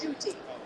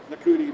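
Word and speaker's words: Ncuti: u t i so at the very beginning of my show i was going like nakuti nakuti nakari nakuti and everybody says pronounce it shooting shooting shoots you know like it took about about a third away at the podcast to figure out how to pronounce it i felt bad because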